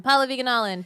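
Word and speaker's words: Pallavi Gunalan: I'm Paula Viganalin, PALLAVIGUNALAN.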